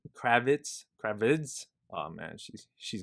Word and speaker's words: Kravitz: year two so that's pretty cool uh zoe crab kravitz kravitz oh man she's she's gonna hit me up yo you pronounced my name wrong uh he's playing uh